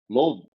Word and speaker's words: Louisville: say it Lulvul.